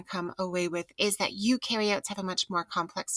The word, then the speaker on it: eukaryotes: away with is that eukaryotes have a much more complex cell structure than prokaryotes remember that eukaryotes you rhymes with do and new so eukaryotes do have